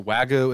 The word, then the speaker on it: Wagyu: pair here with your so Wagyu is how you pronounce it okay what struck you